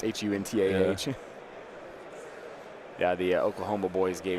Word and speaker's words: Hunter: with like Hunta spelled like A-H. Yeah, it's Huntah.